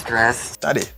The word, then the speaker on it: stressed: He's stressed. Attendez. Quoi de brali? Attendez, m'dou. Aider ça prononcer encore t sound. Like, you say, he is stressed. Ou qu'on est T, elle combine à R là, là-bas, mon son tch.